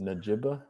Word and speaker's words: Njigba: You usually don't pronounce the G and stuff like that. It's like just like a silent G you'd expect. But anyways, Njigba.